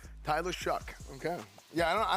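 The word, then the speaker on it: Shough: It's not pronounced like it's spelled.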